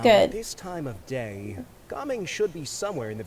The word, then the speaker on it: Gaming: Gaming.